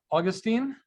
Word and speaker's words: Augustine: I'd like to welcome, I want to make sure I pronounce this correctly, Augustine, is that right? Yes.